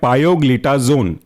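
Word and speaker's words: pioglitazone: थाया जोली डाई इन डाइन इसके एग्जांपल है पायोग्लिजोन स्पेलिंग है पायो पी आईओ और ग्ली जोन जी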